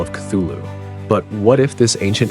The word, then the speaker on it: Cthulhu: important to note that Lovecraft initially intended the name to be pronounced something something like clu who uh as it derives from an alien language that humans can't accurate pronounce however the simpler form